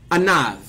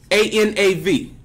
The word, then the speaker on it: anav: The meek is a word called anav. A-N-A-V. In Hebrew, anav. And it's spelled Ein Nun Vav.